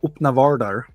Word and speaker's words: Öppna Världar: If they are Swedish speakers, then you will find us at www.öppnavärldar.se, pronounced Öppna Världar, which means open worlds, which is the name of our blog and podcast.